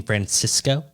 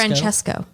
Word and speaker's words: Francesco: Captain Frances Francesco Chino you mean Francisco it's spelled with an e oh so like literally like Francesca Francesco interesting yeah never heard that he's Italian Oh you mean yeah January 13 2012.